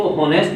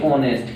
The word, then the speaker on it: honest: क्या इसको होनेस्ट लिखेंगे? नहीं दोस्तों, इसको लिखेंगे ऑनेस्ट।